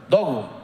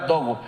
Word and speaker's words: Dogu: ¿Qué se pronuncia? Dogu. Laura Dogu.